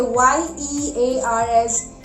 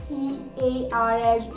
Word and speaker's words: year: here it is yeah so how we will pronounce y e a r we will pronounce y e a r s year not ear it is not ear okay so don't fool